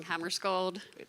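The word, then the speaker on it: Hammarskjöld: Hammer scold.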